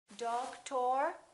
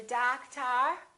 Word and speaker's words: doctor: look we say o'clock how about this one do we say dog tour or doctor no we don't we stress the first syllable we reduce the second syllable therefore these two O's are also going to be completely different doctor how about this one